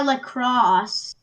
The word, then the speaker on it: La Crosse: Oh, it's actually strengthening a storm approaching La Crosse.